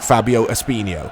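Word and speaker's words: Fábio Espinho: basically and said Mike just say it like you say Ronaldinho Fabio espinho so thank you for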